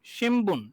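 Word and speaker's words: しんぶん: শিম নয়ের মতো না, কিন্তু এটা মানে ময়ের মতো। উম উম শিম শিম শিমবুন, শিমবুন, শিমবুন, শিমবুন।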